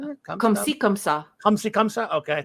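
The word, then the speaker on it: comme ci, comme ça: Come See, Come Sa.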